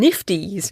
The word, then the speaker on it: NFTs: for copyright protection smart contracts digital scarcities and nifties which i have been told by several of you is how to pronounce nfts so nifties is what we now call them lots of